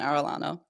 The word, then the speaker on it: Arellano: you got my name right it is Carolyn Arellano there we go we were talking about uh